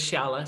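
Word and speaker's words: Xiala: Actually you did a good job because it's Ciala. So you're Ciala.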